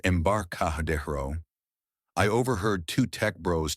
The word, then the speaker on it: Embarcadero: At a bar near the Embarcadero, pronounced Embarcadero, I overheard two tech bros talking.